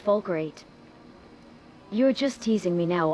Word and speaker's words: Falkreath: That's Hotto, now it's Falkreath.